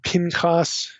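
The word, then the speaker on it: Pinchas: Okay, that's the way most of us would pronounce this. Phineas or Pincas in Hebrew.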